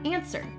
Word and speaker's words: answer: Answer is not spelled the way it sounds.